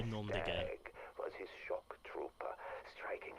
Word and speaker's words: noms de guerre: And you wouldn't pronounce the S there, just be nom de guerre.